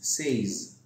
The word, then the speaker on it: says: now yes anyway s says says so the first is is pronounced as a shock the second s is pronounced as a Z so the word is